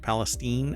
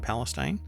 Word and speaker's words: Palestine: in East Palestine right I am pronouncing it correct Palestine Ohio it's not Palestine the national Transportation safety